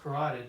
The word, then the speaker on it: carotid: that in cardio for now just note the carotid canal the chronic canal pronounced carotid but it's for some reason it spelled characted